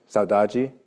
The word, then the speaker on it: saudade: of like this called saudade. Does anybody know that word, saudade? I might be saying it wrong. It's Portuguese. Anybody? Somebody say it? Sadaji? Sadaji? Thank you, Andrew.